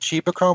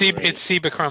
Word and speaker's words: Cibachrome: It's either Chibachrome or Cibachrome. It's Cibachrome. I'm looking at the back of the. It's in the back of the book. Yeah, and it's Cibachrome. Oh right, yeah.